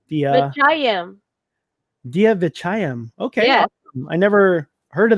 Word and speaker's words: Vechayiem: say your last name the uh gian dia vichayam okay i never heard of that last time